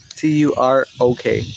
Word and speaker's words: Turok: T-U-R-O-K. Turok.